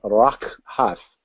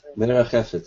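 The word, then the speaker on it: מְרַחֶפֶת: And moved is, see if I can pronounce this, rak hath. I'm not sure if I did that correct, Doug, but you can correct me if I'm wrong. I didn't. Okay. Merachefet is how you say that.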